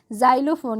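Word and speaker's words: xylophone: पढ़ते हैं ठीक है जाइलोफोन यहां पर इसका उच्चारण ज के रूप में हो रही है ठीक है जाइलोफोन रोक्स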